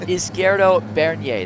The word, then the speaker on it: Izquierdo Bernier: I let you pronounce his last name. Yeah, it's Izquierdo Bernier.